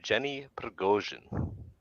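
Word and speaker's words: Yevgeny Prigozhin: his uh his name is uh you have Jenny pregosian yeah just so you get the pronunciation correct but um yeah I got the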